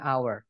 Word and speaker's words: hour: bahasa Inggrisnya an hour padahal tulisannya nya H teman-teman ya Jadi untuk bilang 1 jam an hour karena bacanya hour bunyinya awalnya a gitu ya atau vokal